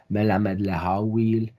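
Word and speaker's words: מלמד להועיל: Note the Western Ashkenazic pronunciations, Melamed Lehawil and Beiraus and not Beirois Avrohom.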